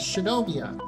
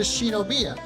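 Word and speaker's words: Shinomiya: after it comes out, they say Shin Mia is Shinomia, which is how they say her name in Japan. But if you watch the dub uh later in the day, they change it to Shinobia.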